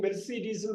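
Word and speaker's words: Mercedes: எழுதி ஸ்கிரிப்ட் எழுதி படிச்சு காட்டணும் நீங்க படிக்கிறப்பதான் என்ன உச்சரிப்பு வருதுன்னு தெரியணும் பாருங்க மெர்சிடிஸ்னு படிக்கணும் 38 புவனேஸ்வரி மெர்சிடிஸ் அப்படின்னு படிக்கணும் எ மெர்சிடி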